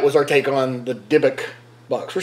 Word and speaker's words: Dybbuk: So, anyway, guys, that was our take on the Dybbuk Box.